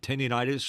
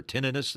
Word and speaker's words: tinnitus: Please, loudness is not a good thing because eventually you're going to end up with a condition called tinnitus or tinnitus, however you like to pronounce it.